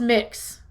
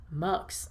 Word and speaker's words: Mx: Oh, it is pronounced mix. Mux.